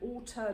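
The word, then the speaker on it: auteur: He wants to make sure as an author director, which means someone that has a specific style, it's I mean it rhymes with water, but it's spelled like that.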